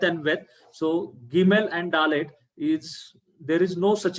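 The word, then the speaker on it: דלת: But that red color Dalet is like DH sound, Dalit, Dalit.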